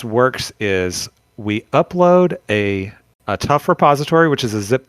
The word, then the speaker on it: TUF: It is tough in the kind of the Gen Z sense, but it's also tough, TUF, the update framework. So sorry. Yes. Didn't mean to interject. No, that's good. It's hard to pronounce acronyms, I guess.